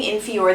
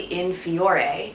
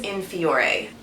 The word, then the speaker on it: In Fiore: facial now quick note I've been saying in fior the entire time I've been obsessed with this brand it is actually in fureai I feel kind of dumb that I've been mispronouncing at this entire time but it is in Fiore I had the opportunity